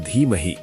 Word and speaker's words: धीमहि: भर्गो देवस्य धीमहि, धी लंबी होनी चाहिए, 2 मात्रा।